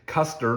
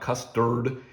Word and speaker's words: Custer: I know it is Custer, not custard.